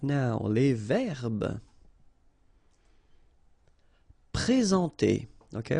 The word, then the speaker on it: présenter: Okay, remember when we get this accent aigu like that on the top of sorry, then you should pronounce it e. All right, and then you combine the two n nasal en.